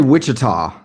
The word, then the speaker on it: Wichita: Is it Wichita or Wichita? How do you say it? I say Wichita. Yeah, that's typically how we say it.